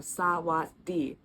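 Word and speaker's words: สวัสดี: In this word, technically that sound kind of gets dropped. I can't explain why, it's just how it is. Our second syllable is technically was.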